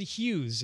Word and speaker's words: Hughes: All right, that's Brian Hughes. It's spelled Hews, and he's got a